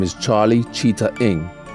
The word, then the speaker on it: Ng: The bearded man continued, "My friend's name is Charlie Cheetah Ing. Cheetah pronounced cheetah, Ing pronounced ing."